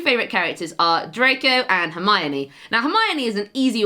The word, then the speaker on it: Hermione: with all the pronunciations, so I used to say Hermione like Hermione, and I was in primary school at the time, so it took a teacher during our reading session, and I was reading Harry Potter to her, and she pointed out how it should be pronounced, and I thought back